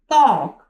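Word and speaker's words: talk: टॉक टी ए एल के टॉक टॉक में क्या है? एल क्या है हमारे पास? साइलेंट लेटर है।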